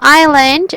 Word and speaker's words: island: let's ride in spell island we have okay small letter i and the s okay i lend okay in this word letter s is silent okay that's i land